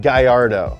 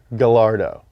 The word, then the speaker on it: Gallardo: It's not Gallardo, okay? In Italy, they pronounce the L. Lamborghini Gallardo.